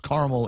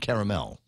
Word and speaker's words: caramel: salt caramel ice cream there are two accepted pronunciations caramel and caramel and I don't know